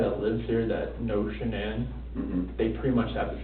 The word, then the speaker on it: Shannan: And I don't want to mispronounce her name wrong, Shannan? Shannan.